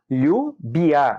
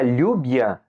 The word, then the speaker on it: lluvia: E aí o LL pode ter o som do LH do português também. Você pode falar calhe, como chuva. Chuva em espanhol se escreve com 2 L's, lluvia, V-I-A. Então escreve lluvia, né? Lembrando que o V ele tem um som praticamente igual ao B, né?